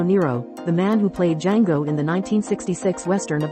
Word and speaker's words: Django: the man who played Django in the 1966 western of the same name. The two characters discussed how the D in Fox's character's name is silent.